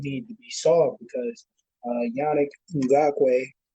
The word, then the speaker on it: Yannick Ngakoue: Those are personnel issues that do need to be solved because Yannick Ngakoue, right?